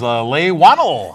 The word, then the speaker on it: Leigh Whannell: Wow, I didn't even think about asking you how to pronounce that. That is Leigh Whannell.